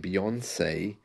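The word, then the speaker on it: Beyoncé: it strange that uh the word or the name Beyonce rhymes with fiance isn't that strange I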